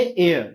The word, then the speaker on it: heir: और ये है एयर, एयर इसका मतलब उत्तराधिकारी होता है।